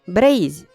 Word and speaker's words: Breizh: in many words, notably Breizh, the name of Brittany in Breton. The letter is pronounced Z in KLT dialects and H in Gwenedeg.